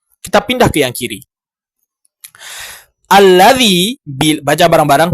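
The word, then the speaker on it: الذي: Alladzi, baca bareng-bareng. 1, 2, 3. Alladzi bila di tengah maka dibaca alladzi. Harokat hamzahnya hilang.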